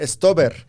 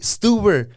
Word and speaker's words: Stuber: Stober. La pelota la tiene Stober. Like, wait, Stuber. Una U, no una O, una U.